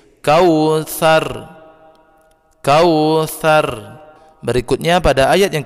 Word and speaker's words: Kautsar: matikan rohnya roll sukun Huruf sebelumnya berbaris atas maka dia ditebalkan kau sarung kau sarung tidak boleh seperti ini kalau seperti ini bacanya tipis Kautsar Kautsar berikutnya pada ayat